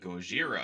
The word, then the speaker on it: Gojira: there's or you know they spell it in Japanese is g-o-j i r a Gojira Gojira and but in